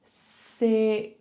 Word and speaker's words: sixth: Six. So you're making your X sound and then push your tongue out to make the TH.